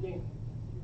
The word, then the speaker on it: Yeej: No, Ying.